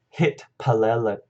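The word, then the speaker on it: הִתְפַּלַּלְתִּי: So in the perfect, we have hit palalti, okay, with the emphasis here on the lal syllable.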